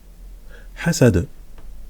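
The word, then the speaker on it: حسد: On écrit hasada, voilà, dans la sourate hasada, mais quand voilà, je le prononce comme ça parce qu'on s'arrête à la fin du verset, c'est hasad. Hasad.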